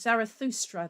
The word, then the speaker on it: Zarathustra: And then you've got, and I can never pronounce this correctly, but you've got Strauss's Also sprach Zarathustra. I can never say it. Zarathustra, that's it.